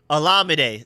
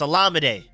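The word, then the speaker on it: Olamide: work on that I I forgot his name is pronounced alade zakus I keep saying Olam is alade make sure y'all stay on me about that cuz I I keep forgetting it's Al lamade got to remember that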